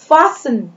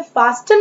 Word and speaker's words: fasten: फासन, FASTEN, देखिए यहाँ पे टी लेटर बीच में दिया गया है, लेकिन इसका उच्चारण हमको नहीं करना है। हम इसे फास्टन नहीं पढ़ेंगे, हम इसे पढ़ेंगे फासन, फासन।